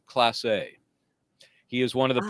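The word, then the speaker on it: Clase: His name, his last name is CL L A S E, pronounced class A.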